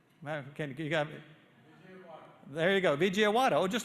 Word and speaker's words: Vijayawada: the world, VJ, you're going to have to pronounce that. You got there you go, Vijayawada.